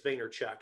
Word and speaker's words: Vaynerchuk: but vaynerchuk has been i think it's vaynerchuk is how he pronounces it but he has been